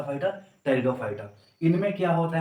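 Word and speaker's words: Pteridophyta: जिसे बोलते है टेरिडोफाइटा टेरिडोफाइटा में प हमारा होता है साइलेंट होता है इसे बोलेंगे टेरिडोफाइटा अ टे सॉरी टे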